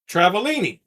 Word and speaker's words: Travaglini: G is silent. Travalini.